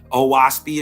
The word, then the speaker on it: Oahspe: Oahspe is pronounced O as in o'clock, Ah as in father, and speak as in speak.